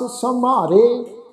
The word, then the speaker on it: समारे: हुण ये जिहड़ा शब्द है जी ससा मम्मा कन्ना रारे उत्ते इक ला, इस शब्द का पाठ उच्चारण करांगे जी समारे। माँ अखर की जिहड़ी साउंड है जी उन्हूं हल्का जिहा भारा करके उच्चारण करना है।